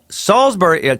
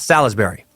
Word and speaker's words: Salisbury: resident of North Carolina Salisbury I said salzburg salzburg's pronounced salisbury not Salle's berry I'm not one for